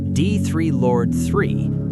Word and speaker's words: D3rlord3: D3rlord3, pronounced D3rlord, real name Derek, is the other character, the one whose story we pieced together through recordings and notes he left behind.